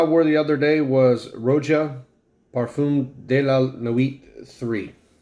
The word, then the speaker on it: Roja: anyway a world of Rodia and and it's pronounced Rocha so anyway this to me guys is phenomenal